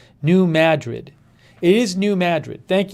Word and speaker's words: New Madrid: yeah ma new man it's ba ma as in bad new madrid it is new madrid